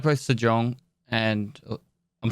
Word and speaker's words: Sejong: I like both Sejong and I'm saying that right, correct?